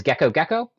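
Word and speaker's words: Gekko gecko: i have here is gecko gecko notice that the genus name is spelled different than the species name even though they're pronounced the same sometimes binomial nomenclature doesn't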